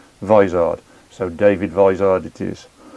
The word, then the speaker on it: Vizard: a mr david wizard i always used to say vizzard until i watched one of his youtube videos and realized that he pronounces his surname vizard so dave advised it